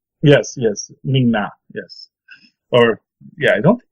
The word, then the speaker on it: Ming-Na: says he has Migna's agent. He knows he has the email for Migna's agent. Who's Migna? Agent May. Oh, okay, yeah, okay. No, I usually pronounce the I in that. Yes, Ming-Na, yes.